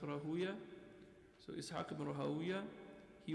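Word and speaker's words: Rahawayh: And then their teachers was also Ishaq ibn Rahuya, or Rahaway, but it's pronounced Rahuya.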